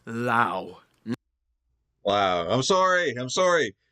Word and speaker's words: Laos: get to the video it's pronounced lao wow i'm sorry i'm